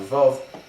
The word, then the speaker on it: Vav: to pronounce a proper Vav, not like a V. So Vav is a W sound, and that's why the Shuruk is written with a Vav.